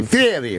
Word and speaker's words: Fieri: Guy Fieri. No, you got to say Fieri or whatever the fuck.